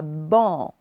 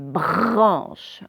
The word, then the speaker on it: branche: Ce n'est pas ban, c'est branche. BR et après, on aura le son en. On continue.